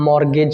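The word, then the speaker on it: mortgage: अब हम बात कर रहे हैं यहाँ पे मॉर्गेज शब्द की। मॉर्गेज शब्द की। मॉर्गेज का मतलब बताइए क्या हो सकता है। देखिए, मॉर्गेज का मतलब होता है, मैं सीधे बताता हूँ, इसमें टी साइलेंट रहता है बेटा।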